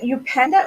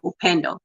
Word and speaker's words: Upendo: Is it Upenda or Upanda? Am I saying it right? The best way to say it is Upendo. I say it Upendo. Upendo, it's a Swahili word, or you can say Upendo.